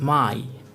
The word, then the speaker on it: Mai: are pronounced like one the first diphthong is our E and a which is pronounced like the English word I an example for I is my which means the month main and I which means egg the second diphthong or